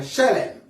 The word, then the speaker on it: shalem: Est-ce que quelqu'un peut dire avec moi shalem? Shalem. Ça s'écrit S-H-E.